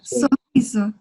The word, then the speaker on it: sorriso: O sorriso. Sorriso. Muito bem. Doble R, em português, se pronuncia como roupa.